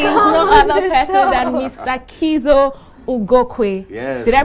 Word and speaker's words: Kiszo Ugokwe: Kiszo Ugokwe. Yes. Did I pronounce that right?